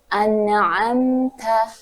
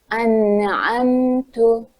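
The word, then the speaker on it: أَنْعَمْتَ: Yaitu misalnya an'amta dibaca dengan an'amtu.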